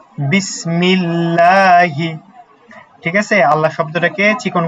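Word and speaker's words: بِسْمِ ٱللَّهِ: বিসমিল্লাহি। বিসমিল্লাহি।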